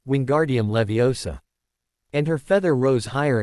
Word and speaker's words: Leviosa: Wingardium Leviosa, he shouted, waving his arms around. You're saying it wrong. Hermione finally snapped hotily. It's Wingardium Levi Osa. Make the gar nice and long.